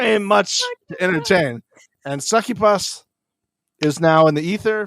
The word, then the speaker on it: succubus: you say it right are you saying it wrong on purpose yep definitely saying it wrong on purpose it's a sucky bus not a but succubus is way better and that is the only way I'm saying it from now on sucky Paws Sarah is